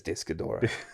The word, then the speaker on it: Destoroyah: It is Destoroyah.